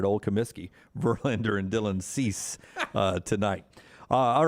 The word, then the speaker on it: Cease: stud for the white sox uh last name cease cease okay that's the way i was gonna